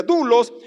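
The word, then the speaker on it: doulos: Luego está dulos, se escribe douulos, pero se pronuncia dulos y es un esclavo que también es un siervo.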